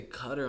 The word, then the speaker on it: Qatar: It's Qatar. So they say cutter on live TV.